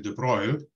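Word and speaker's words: de Broglie: grad student and so the way we say his name is actually the broil but that's fine you can say the broccoli if you want to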